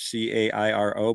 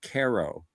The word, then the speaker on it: Cairo: C A I R O. But they pronounce it KO.